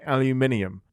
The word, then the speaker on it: aluminium: pronounce some things um I can say aluminium because there is an ey in there aluminium aluminum aluminum Alum aluminium the